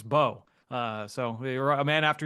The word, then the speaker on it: Mbow: MBOW is the spelling of the last name, but the M is silent, so it's Marcus Bow.